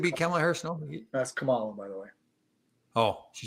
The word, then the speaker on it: Kamala: That's Kamala, by the way.